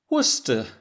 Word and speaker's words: Worcester: this city in the uk, which is spelled W O R C E S T E R, I might think it's pronounced "Wor-ses-ster", but I would learn that in fact, it's pronounced Worcester, which is in Worcestershire.